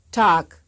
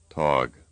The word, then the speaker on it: Tag: Here is a word often mispronounced by English speakers. You will first hear it right and then wrong. Tag, Tog.